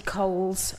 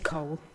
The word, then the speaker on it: Cole: the children's Improvement board I'm not Katie koh's I'm Katie Cole thank you thank you